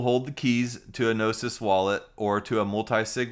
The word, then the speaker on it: Gnosis: heard people pronounce it gnosis and it's like a cheese grater on me it's gnosis like as a gnostic gnosis the greek word for knowledge and and wisdom and